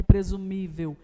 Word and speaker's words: presumível: presumível observe lá então que presumível é uma palavra polissílaba tem mais tem 4 sílabas nesse caso né presumível e isso mesmo tem 4 sílabas portanto uma palavra polissílaba e o acento ele recai sobre qual sobre a penúltima sílaba portanto uma palavra paroxítona na letra c a